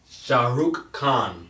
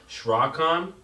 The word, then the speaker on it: Shahrukh Khan: is what they said it's Shahrukh Khan Shahrukh Khan Chaka Khan I said I guess last time I said schrock on say learn to say